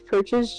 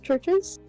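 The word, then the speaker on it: Church's: Uh like churches like how it's pronounced.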